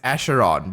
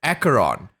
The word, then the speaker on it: Acheron: we first see her she pronounces her name as asheron but in the 2.0 storyline everyone even herself says acaron so I'm going to be following that second pronunciation instead we first meet